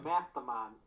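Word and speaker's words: Mastemon: Mastmon. Yeah, Mast E. You do pronounce that E. Okay, Yeah. so Mastamon.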